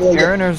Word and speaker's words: Aron: Well, no, is it pronounced Aaron, or is it just specifically in this game pronounced Aron? It's Aron. It's Aron because it's one A.